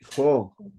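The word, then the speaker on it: ὁ: La primera es Oye, jo. Acuérdate que cuando tiene una coma que se le llama el espíritu rudo arriba, la Omicron, es, le pones como H o J, jo.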